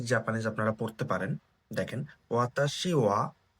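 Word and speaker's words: は: ওয়া পার্টিকেল। তো আপনারা তো বলবেন, এটা তো হা, হিরাগানাতে হা, কিন্তু এটাকে ওয়া কেন বলছি? তো পার্টিকেল হিসেবে যদি আমি এটা ইউজ করি, তাহলে এটার উচ্চারণ হয় ওয়া।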